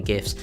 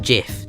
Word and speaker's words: GIF: a Twitter or Instagram but you can't post gifts on Instagram as far as I'm aware so